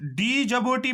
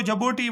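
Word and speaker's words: Djibouti: डी को silent, क्योंकि नाम है, डी को साइलेंट रखो या ना रखो, तो लेकिन प्रोनाउंसिएशन आप जबोटी इसको बोल सकते हो, ये भी आपको अपनी मर्जी है, ये भी आप पढ़ सकते हो इसको।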